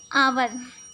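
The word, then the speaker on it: hour: यहाँ पे आवर, आवर H silent है, यहाँ पे ओ साउंड है, वॉवेल साउंड, यहाँ पे एन आवर होगा।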